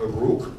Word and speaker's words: Uruk: There was a city in 3500 BC called Uruk in Sumeria. I like to pronounce it with that little bit of an accent, not to confuse it with the Uruk-hai.